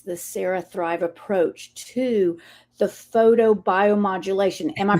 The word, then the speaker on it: photobiomodulation: Well, Sarah, tell me a little bit, tell the listeners what makes the CeraThrive approach to the photobiomodulation. Am I pronouncing it right?